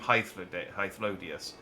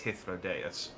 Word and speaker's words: Hythlodaeus: No, I keep pronouncing him Hythlodius, and it's Hythlodaeus.